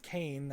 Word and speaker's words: Cayne: to clone their main boss and it is pronounced Kane I wish they'd say the name out loud